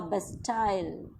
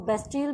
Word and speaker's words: Bastille: कहीं पर बेटा आपको इसके प्रोनाउंसिएशन जो है वो बेस्टिल भी सुनने को मिलेगी. So both are correct.